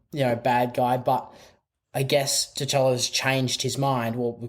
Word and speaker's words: T'Challa: the boys accidentally pick up um t'challa it's t'challa right yeah yeah i i had always difficulties pronouncing that um rest in peace chadwick um